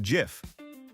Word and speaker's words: GIF: Is it GIF with a hard G or GIF like the peanut butter brand?